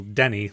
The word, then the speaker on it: Teni: Like my name, for example, Denny. Like it's said like it's spelled Denny, which is a common, or at least was a common, like an Anglophone name. But my name is spelled Teni with a T.